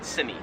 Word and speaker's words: semi: So yeah, we say this word as semi, like with the I, we say I at the end. In Australian English, they would pronounce it semi.